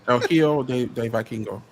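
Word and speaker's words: El Hijo del Vikingo: And I look at people like LD Viking. But Vikingo. I tried to say his name and I couldn't. El Hijo de Vikingo.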